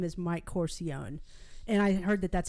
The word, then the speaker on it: Corcione: not even you but his name is mike corcione and i heard that that's how he pronounces it i thought i'm just going to